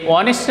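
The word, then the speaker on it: honest: Dear student, এখানে একটা grammar দেখো, এই অনেস্টের জায়গায় অ্যান বসানো আর ডিসঅনেস্টের জায়গায় এ বসানো। তোমরা নিচে আর্টিকেলের ব্যবহার শিখেছো। এইসের উচ্চারণ যখন ওয়ের মতো হয় তখন আমরা সেইখানে অ্যান ব্যবহার করি।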